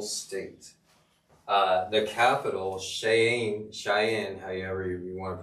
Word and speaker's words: Cheyenne: are 50 000 students no it actually starts with a ch it's a cheyenne hey google how do